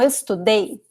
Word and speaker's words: estudei: So, present tense, the second to last syllable is stressed. Past tense, the last syllable, and we have two vowels. So, the stress is on the second to last vowel, ok?